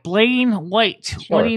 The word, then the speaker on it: Blaine White: No, it's spelled B-L-A-I-N-E. Blaine, not Blair.